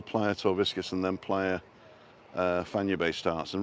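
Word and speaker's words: Fañabé: And it's not Fanabe or Fanyabe. It's like San Francisco Bay, Fanya Bay.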